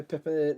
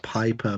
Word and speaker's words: Piper: JB, you went for Pippa Niven? Piper Niven. Piper Niven, then? Pippa, oh my God. It's called Piper because it rhymes with Viper, but we can't call her that.